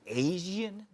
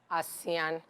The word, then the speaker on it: Assain: natural is there a reason why it's called Asian uh yeah it's actually an ebibi award is called asean It's pronounced asean so asean means um finis Panache Elegance you